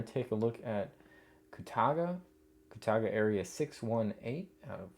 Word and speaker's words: Kootaga: First issue here for Koutaga which sometimes I think I mispronounce Katuga.